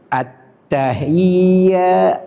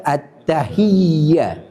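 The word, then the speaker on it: التحيات: Attahiya. Attahiya bukan At-tahiya.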